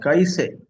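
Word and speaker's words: कैसे: South Indians pronounce Kaise as Kaise. So there they are wrong. The word Kaise it cannot be pronounced as Kaise.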